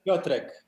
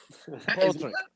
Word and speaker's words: Piotrek: Is it Piotr? How do you pronounce it? It's Piotrek. Piotrek. Oh, sorry. Piotrek.